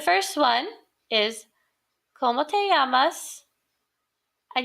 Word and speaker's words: llamas: The first one is, ¿Cómo te llamas? And you'll notice that this double L is going to make a Y sound in Spanish. So I'd like for you to repeat after me. ¿Cómo te llamas?